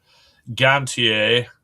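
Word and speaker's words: Gontier: Of Adam Gantier or pronounce it the French version to to be proper joining the band.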